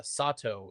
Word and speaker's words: Sato: When Hoshi enters, you look at the top uh Sato is what I'm being told. It is not Sedto.